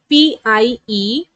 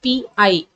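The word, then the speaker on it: pie: sound longer, that is P-I-E. So you have to take the first vowel, that is P-I. Only you are going to pronounce these two letters. The last E is silent. Okay. P-I. Pi. P-I.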